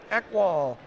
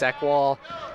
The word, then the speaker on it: Eckwall: So inbounding for the Celtics, Eckwall for the Celtics. Did I pronounce that right? Yeah, that's correct. That's Chase Eckwall.